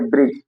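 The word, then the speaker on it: bridge: Accident, accept, इसी प्रकार से जब किसी शब्द के अंत में डी आए, डी के बाद जी ई आता है, तो डी का उच्चारण नहीं करते। जैसे ब्रिज, जज, जैसे ब्रिज, डी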